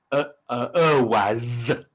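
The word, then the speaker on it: Ehwaz: But that's because in the Germanic name, its name is Erwaz, with the emphasis on the Z at the end.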